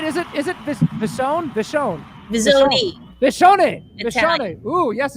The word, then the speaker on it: Visone: Am I pronouncing that right? Is it Visone? Visone.